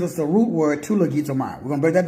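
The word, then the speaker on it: logizomai: Because if you're like me, man, I can pronounce half of these Greek words. So it tells you. 3049. Lagizomai.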